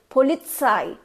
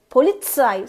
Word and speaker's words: Polizei: It's like Polizei. You have to literally push the Z, T-Z. Polizei.